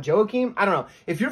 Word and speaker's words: Joaquim: saruki and taking on Joe Keem Silva I believe that's how you pronounce it I know it looks like Joaquin but I've heard the commentators call it Joakim I don't know if